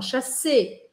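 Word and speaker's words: chasser: O R também não fala o final, fala chassé, né?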